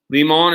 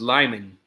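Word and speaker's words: Limon: in the chat yes leemon is actually pronounced lyman but close enough right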